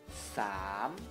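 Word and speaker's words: สาม: a, lalu moma, moma, dibacanya gimana? So, se, kelas tinggi, jadi langsung sam, sam, sam, siang cetawa atau nada bangkit, oke?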